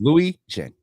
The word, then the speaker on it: Louijeune: So, Counselor Anderson yesterday told me that you like the beginning to say like Louis, as in Vuitton. Yes. Louijeune. Oh, I'm glad she taught you. Yep, it's exactly like that. Louis and your friend Jen. Louijeune.